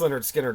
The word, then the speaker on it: Lynyrd Skynyrd: But okay, let's start with the debut of Lynyrd Skynyrd, pronounced Lynyrd Skynyrd, 1973.